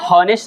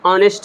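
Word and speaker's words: honest: तो ये एन ऑनेस्ट मैन है, ये ऑनेस्ट इस तरह से हिंदी में लिखते हैं, इसका प्रोनाउंसिएशन हॉनेस्ट नहीं होता है, ऑनेस्ट होता है।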